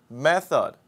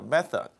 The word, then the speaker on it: method: 먼저 547번지 method 방법입니다 명사로 method 발음하기가 쉽지 않죠 th 발음은 한국 사람이 하기 쉽지 않습니다 method this is the best